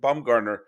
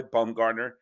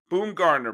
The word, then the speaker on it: Bumgarner: bumgarner and lincecum started my father never pronounced their names correctly lincoln dumb lucincum lunakum boom garner bam gardner baumgardner there was always something slightly off boom gardner but uh